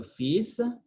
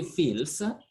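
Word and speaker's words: fils: we go to le fisa fisa is sun we don't say feels l is silent it's a unique word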